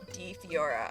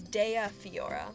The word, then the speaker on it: Dea Fiora: It's not D Fiora. I figured out how to pronounce it. It's Dea Fiora.